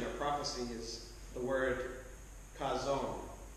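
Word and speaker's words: חזון: word for vision or prophecy is the word chazon, spelled C-H-A-Z-O-N, pronounced chazon.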